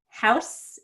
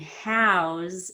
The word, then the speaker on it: house: House as a noun and house as a verb. That's because as a noun, it ends in an S sound, and as a verb, it ends in a Z sound.